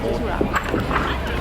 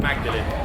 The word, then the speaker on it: Magdalen: Some people are confused about the pronunciation of Magdalen. It looks like Magdalene. We usually say Magdalene when we're talking about the biblical figure. It's just the contemporary pronunciation of the word.